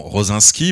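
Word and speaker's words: Rosiński: pour rappel Gregor alors en France nous dirons rosenskii vous vous aurez constaté qu'en polonais ça se prononce pas tout à fait la même façon co-créateur évidemment de de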